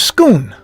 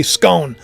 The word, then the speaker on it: Scone: in Scotland but it's called the stone of scoon scoon people when I say scone they get it they're like no it's scoon